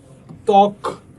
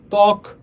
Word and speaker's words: ত্বক: দেখো কি বলছে, শব্দের প্রথমে বফলা থাকলে উচ্চারিত হয় না, তবে উচ্চারণে শ্বাসাঘাত হয়, যেমন ত্বক, দ্বিতীয়, একটু কিন্তু প্রেশার লাগতেছে না, দ্বিতীয় ত্বক।